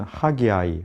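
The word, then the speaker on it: Haggai: 명칭에 대한 부분을 보시면 영어로는 하기아이 하기아이 이렇게 발음을 하고 우리말로는 선지자들은 그대로 함께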